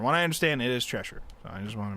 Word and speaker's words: Cheshire: And so I tried looking up how you're supposed to pronounce it. And from what I understand, it is Cheshire.